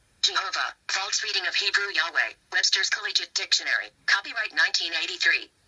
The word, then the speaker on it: Yahweh: The true pronunciation of the name YHWH was never lost. Several early Greek writers of the Christian church testified that the name was pronounced Yahweh.